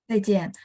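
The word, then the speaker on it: 再见: Zaijian. Ya, Ibu Chunrong udah bacanya dengan benar.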